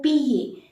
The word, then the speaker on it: pied: Au pied. D is not to be pronounced.